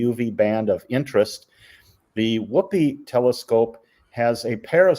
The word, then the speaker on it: WHOOPI: The one with the square-looking top is called WHOOPI, and that's really how you pronounce it. It's an acronym, Wisconsin Ultraviolet Photopolarimeter Experiment.